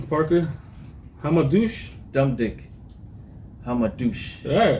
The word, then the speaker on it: Hamadouche: Hamadouche. Yeah, right? So she's fighting Maiva Hamadouche.